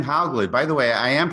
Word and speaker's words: Hauglid: that all right sure all right Brian M haugley by the way I am pronouncing that correctly yes yes okay is an